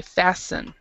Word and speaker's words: fasten: this word fasten uh the t is silent so you all you have to do is say fasten so yeah you don't